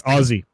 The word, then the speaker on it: Aussie: How the frick do you say Aussie? Aussie. Like, hang on. How would you? OZZIE. No. Just say it. Say it. Aussie. Ozzy Osbourne. Well, just for that, I'm going to mispronounce it now. It's for me. It's going to be Uzi now. A lot of Americans say Aussie. No, fuck you. It's Aussie. It's Aussie. You guys are the Ozzy Osbourne of countries.